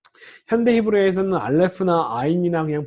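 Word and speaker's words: עין: 요 I는요, 이것도 현대 히브리어에서는 묵음 처리라는데, 이거 목구멍 아주 깊숙이 나는 소리입니다. 이런 발음이에요.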